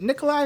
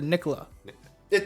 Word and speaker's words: Nikola: Nikolai is more or less with the accent Okay. of where he's from, and Nikola is how Americans would pronounce it.